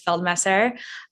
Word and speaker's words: Feldmesser: Yeah, very close to the pronunciation. It's Feldmesser.